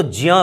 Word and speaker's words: ज्ञ: तो ज्ञ जो है आप देखिएगा, ज्ञ के उच्चारण में आधा ज यानी हलंत वाला ज और य, अगर हम इन दो वर्णों को एक आधा यानी स्वर रहित ज और य इसको एक साथ उच्चारण करें तो ज्ञ बनता है, या फिर ज्ञ, आजकल इसको ज्ञ उच्चारण करते हैं।